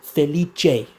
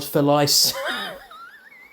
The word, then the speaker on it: Felice: Feliche, not Felis.